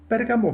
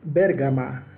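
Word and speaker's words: Bergama: que también escribió bueno el moderno pueblo de bérgamo hoy en día una corrupción del nombre pérgamo así lo pronuncian los turcos y está situado en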